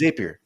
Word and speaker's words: Zapier: It's Zapier.